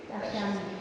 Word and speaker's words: takshami: Sí, Takshami. en el quechua siempre la fuerza de voz tiene la penúltima sílaba.